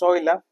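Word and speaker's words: Euler: es un trabajo de Oiler, ¿verdad? Que lo pronunciamos Oila de 1776.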